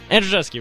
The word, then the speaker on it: Andrzejewski: Alongside me is my partners Andrzejewski. Andrzejewski, right? I'm saying it right? Yeah.